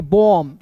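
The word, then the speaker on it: bomb: तो यहां देखेंगे एम के बाद क्या है? बी है। तो बी को आप साइलेंट कर दीजिए। ठीक है ना? नियम तो यही है ना? है जी। तो यहां पे बी का ब हो जाएगा और एम का म हो जाएगा। ओ है तो इसका उच्चारण ओ के रूप में होगा। तो पढ़ेंगे बम। बी ओ एम बी बम।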